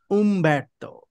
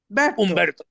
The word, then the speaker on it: Humberto: Humberto. Yes. The H in Spanish is silent. Yes, yeah, silent. Humberto. Yes, Humberto.